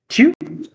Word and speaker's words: tu: The pronunciation for the second pronoun is tu, tu, tu, which means you.